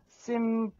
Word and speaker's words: Simple: 약간 심플보다는 네. 심펄로 하라고 그랬어요. 아, 그래요? Hey, I'm Mr. Simple 이랬는데 네. 약간 뿔 발음보다는 네. 약간 좀 고급스럽게 네. 심펄.